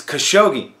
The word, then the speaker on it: Khashoggi: idiot you are so I got the guys name wrong it's Khashoggi I I don't know